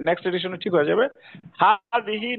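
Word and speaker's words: هذه: হাযিহি নিচে লম্বা যে খাড়া জের আছে আর কি উচ্চারণে। হাযিহি মানে খাড়া জের হবে আর কি।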